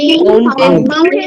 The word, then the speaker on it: mountain: Mountain, captain, again. Okay, friends. Then Mountain, captain, again. Again. The simple idea, you pronounce the last A-I-N as a in.